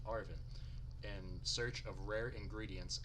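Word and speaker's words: Arven: On the Path of Legends, you can join, I believe that's pronounced Arvin, in search of rare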